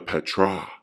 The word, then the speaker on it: PTR: hieroglyphic is translated into PTR pronounced the Petra called The Eye of